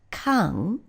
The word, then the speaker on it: 間: So we've taken ichiji, we've added this character, which is pronounced kang, and we now have ichiji kang, which is no longer 1 o'clock, but the period of an entire hour.